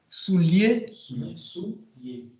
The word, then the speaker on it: souillé: Par exemple, quand il punissait les bandits, les voleurs, il n'était jamais souillé. Il n'y a pas de L. Ça s'écrit avec, mais c'est lié. Souillé.